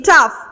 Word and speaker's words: tough: Traffic figures on July 4th to be tough. Traffic double F, fic figures F on July 4th, F again and tough, T-O-G-U-H, G-H, the pronunciation is F.